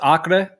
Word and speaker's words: Acre: I mean, you don't have to tell me exactly, obviously, but because how's it pronounced? Acre.